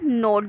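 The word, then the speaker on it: gnawed: अब इसको हम ग्नोड नहीं पढ़ेंगे, हेयर जी इज साइलेंट। तो दे नोट द वुड क्लॉथ और एनीथिंग दे कुड गेट।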